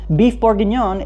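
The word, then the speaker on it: bœuf bourguignon: come from right here beef borgon is how you say a burgundy style stew in French this is where Coco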